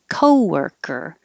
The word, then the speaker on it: co-worker: shown you co-worker co-worker this looks like an o but it sounds like er so the wer and the cur sound exactly the same er sound co-worker colleague and then this